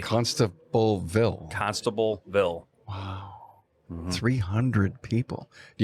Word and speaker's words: Constableville: And every time I order parts from a source outside of my normal parts distributors, I have to say constable like an old cop. So they spell it correctly. Constableville.